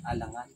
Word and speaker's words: Alangan: Paano bigkasin? Alangan.